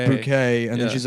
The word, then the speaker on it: Bucket: yeah she's a snobby the last name is bucket but she pronounces it she pronounces bouquet and then she's like